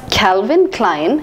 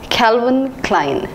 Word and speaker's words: Calvin Klein: Calvin Klein Calvin Klein I thought it should be pronounced as Calvin Klein but I was wrong it is pronounced as Calvin Klein Calvin Klein is an